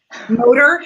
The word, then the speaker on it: motor: Motor, same with motor. Flavor. It's also an ER.